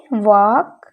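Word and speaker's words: walk: अगला है हमारा वॉक यहां पे भी हम इसको वॉक नहीं पढ़ेंगे ओके इसे हम पढ़ेंगे वॉक यहां पढ़ेंगे तो हम यहां पर हमारा ल साइलेंट होता है तो आपको इस चीज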